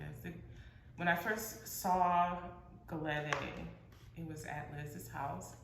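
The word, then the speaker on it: Gelede: So this, when I first was introduced to this, it's called a Galette mask. Can I spell it? Yes, please. G-E-L-E-D-E. Galette.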